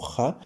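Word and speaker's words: Jah: en la Reina Valera como Ja pero recordemos que en la época que se que se tradujo las J se pronunciaban como yegas en español entonces pone ya entonces yeshua es una palabra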